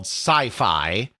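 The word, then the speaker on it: Psyphi: of another interesting innovation called Sci-Fi, but spelled P-S-Y-P-H-I, but pronounced sci-fi.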